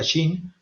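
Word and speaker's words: Qin: de Shin shi wang la dinastía King o Dinastía per se pronuncia Shin Y es de las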